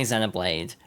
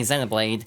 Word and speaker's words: Xenoblade: And yes, I say Xenoblade. I do not know why I used the Japanese pronunciation, because, again, for some reason in Japan they say Xenoblade.